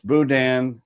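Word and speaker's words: boudin: This particular restaurant, they have a twist on it and it's Budan egg rolls.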